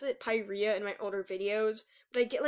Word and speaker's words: Pyrrhia: I always used to pronounce it Pyrrhia in my older videos, but I get like hundreds of comments telling me I was saying it wrong.